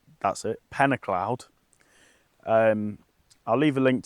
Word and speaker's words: Pen-y-clawdd: So, I'm at a lake in Wales and it's pronounced pennacloud. That's it. Penacloud.